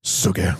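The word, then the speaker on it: Sook-hee: then he's then he you said it wrong it's Suki then he's playing the role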